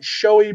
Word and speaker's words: Schjoay: music videos, production company was called Showy Productions, but it's spelled SCHJOAY, Cool.